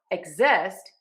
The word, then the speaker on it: exist: Now, for exist, we are going to change the syllable stress. We are going to stress syllable number two.